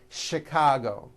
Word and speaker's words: Chicago: a couple of words that are spelled with ch and are also pronounced with the sh sound words like chef and the city of chicago okay having said that